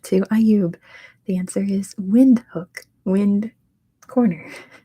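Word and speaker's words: Windhoek: Ayub the answer is wind hook wind corner it's off the cons apparently windhook probably not how you pronounce it at all but that's how you pronounce it in American English it is with number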